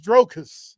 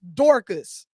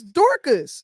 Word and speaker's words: Dorcas: Like, and again, can somebody say her name was Dorcas? It's Dorcas. You saying Drocus. Oh, okay. Look, you fucking her name. Her name is Dorcas.